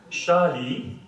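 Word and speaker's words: 沙梨: Alors, ça se prononce Shali, d'accord?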